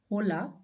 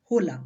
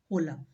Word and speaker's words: hola: but in Spanish is hola hola but we will not pronounce this as olola we will pronounce it Ola Ola because H is always silent in Spanish so we will pronounce